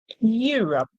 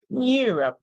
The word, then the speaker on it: Europe: b b across across Europe Europe remember the e in Europe is silent so we hear you and R and then we hear